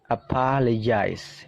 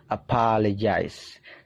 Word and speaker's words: apologize: Apologize. Nah, di situ dibaca J ya. Ada simbol aneh seperti itu dibaca J. Apologize.